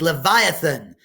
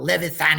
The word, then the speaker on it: Leviathan: stop it was brilliant the word is Leviathan not levee fan Ian's the attempts at